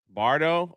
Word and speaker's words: Bardot: Bardo?